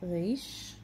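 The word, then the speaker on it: ריש: cool next letter is Rach Rach mix the sound of our so our in Hebrew you pronounce it out of the race race it's very close to French our let me say resistance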